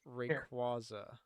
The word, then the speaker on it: Rayquaza: Pokemon Company officially shows how to pronounce Rayquaza. Yeah. Rayquaza Rayquaza? is technically how you're supposed to say it. Yeah.